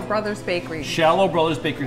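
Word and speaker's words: Scialo: Shallow, like shallow water.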